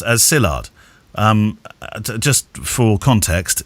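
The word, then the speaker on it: Szilard: love the show this is your friend porcillard pronounced as sillard um just for context it's spelt s-z-i-l-a-r-d from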